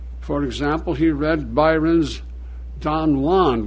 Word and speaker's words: Don Juan: For example, he read Byron's Don Juan, which Byron pronounced Don Juan for scanning purposes.